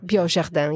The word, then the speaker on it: biojardin: Am I saying biojardin? Yes. With bio, like bio.